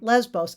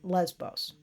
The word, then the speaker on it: Lesbos: the beta and it's pronounced v but in english the v is also pronounced b so it's often written lesbos and that's for english-speaking people so they write it lesbos and um here is